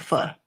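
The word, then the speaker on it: pho: But they call it fur. They say we say it wrong. It's fur. Ph.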